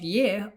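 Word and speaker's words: यह: though they're spelled differently, yaha and ye are still pronounced as ye, and vaha and ve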